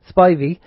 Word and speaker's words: Spivey: Now, our guest is a chap called Spivey. That's how it's pronounced.